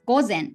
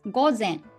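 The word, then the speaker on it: 午前: everything is opposite so in english you say it's 9 a.m but we start with am which is gosen in japanese so you start with a.m and nine o'clock and then this as in like it's in this context so it's 9 a.m in japanese that's go zen yes well you say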